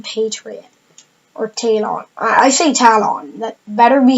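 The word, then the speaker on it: Talon: for talent in patriot 14 on ice a talent that better be how you pronounce it because I will not believe anybody that says it's pronounced tail on anyways so because of these are not necessarily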